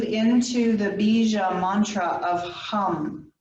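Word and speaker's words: ham: the bija mantra of hum h a.m. and we pronounce the H short a long M take a deep breath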